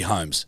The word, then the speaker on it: Holmes: It'd be Holmes. Sherlock Holmes. That's spelled the same way. Sorry for mispronouncing that.